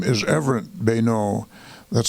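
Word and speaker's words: Beneault: The little newcomer's name is Everett Bayneau. That's spelled B-E-N-E-A-U-L-T.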